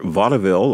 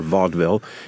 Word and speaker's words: vaudeville: you Millennials out there vaille or Vaudeville depending on how you want to pronounce it was a circuit that